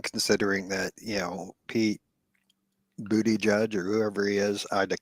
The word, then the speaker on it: Buttigieg: And, no, it's Buttigieg. That's how you're supposed to pronounce it, I guess. Buttigieg.